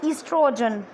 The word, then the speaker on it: estrogen: Okay, here O is silent and it is spelled as estrogen.